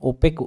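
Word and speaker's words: opaque: इसको बहुत सारे लोग इसका जो प्रोनाउंसिएशन है वो गलत करते हैं, ओपेक इसका होते हैं।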